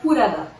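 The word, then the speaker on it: プラダ: O pessoal se pronuncia Purada.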